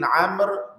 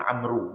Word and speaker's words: Amr: bin Amr Bin al-as orang Melayu dia baca Abdullah bin Amru bolehlah Dia sepatutnya wau tu tak dibunyikan sebab dia nak bagi beza ejaan Umar dengan dengan Amr sebab ejaan dia sama maka wau tu tak dibaca sebab tu saya tengok